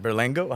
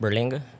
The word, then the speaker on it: Berlanga: But I wanted to talk to you about Canelo and his fight September 14th with Berlengo. How do you say it? Berlenga.